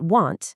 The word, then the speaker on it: want: Won't has a clear O sound, like in the word go, but want has an aw sound, like in hot.